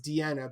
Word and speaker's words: Diana: Actually, not really similar, but when I tried to introduce my parents to my ex-wife, her name is Deanna, but it's spelled like Diana because Latin language, things like that.